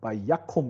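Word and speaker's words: וַיָּקָם: 이 경우는 액센트가 여기 있습니다. 여기 있어요. 바이아콤 이렇게 발음하는 경우.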